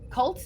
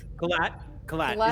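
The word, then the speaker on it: Qhlat: And look, Lieutenant, Colt, you said? Colt? Kalat is how I'm pronouncing it. It's Kalat? Q-H-L-A-T, Kalat.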